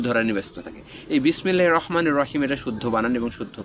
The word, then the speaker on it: বিসমিল্লাহির রহমানির রহিম: তেমনি শুদ্ধ উচ্চারণ হচ্ছে বিসমিল্লাহির রহমানির রহিমের শুদ্ধ উচ্চারণ হচ্ছে বিসমিল্লাহির রহমানির রহিম। বিসমিল্লাহির রহমানির রাহিম হবে না, এটা হচ্ছে অশুদ্ধ উচ্চারণ। রয়ে আকার হবে না, র পোর হবে।